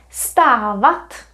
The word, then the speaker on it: stát: it will be done stat remember it's just like start but it's a little bit longer this extra syllable V